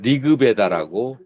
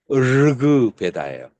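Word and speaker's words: ऋग्वेद: 우리 한국에서 공부한 사람들 리급에다라고 그렇게 써버리는데 그 잘못된 표기법이고 르급에다예요.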